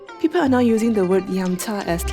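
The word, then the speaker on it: 飲茶: I never heard it in a Mandarin pronunciation, but I think the most common term may be yam cha.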